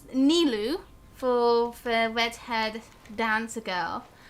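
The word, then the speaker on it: Nilou: the game's pronunciation rather than like real life pronunciations, I guess. And it's Nilu for the redhead dancer girl, and then there's Sino, obviously.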